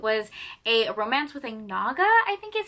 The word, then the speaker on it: Naga: This one was so good because it was a romance with a Naga, I think is how you pronounce it, N-A-G-A, which is basically like a